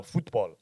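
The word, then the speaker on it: fútbol: pronouncing football is football because that's the Spanish pronunciation for it get some culture in here football f-u-t-b-o-l football okay it's a beautiful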